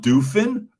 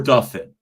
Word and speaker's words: Duffin: But is it or Duffin? Oh, okay, Duffin.